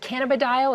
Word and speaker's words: cannabidiol: Is it cannabidiol? Is that how I pronounce Correct, it?